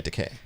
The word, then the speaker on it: Takei: Yeah, Takei.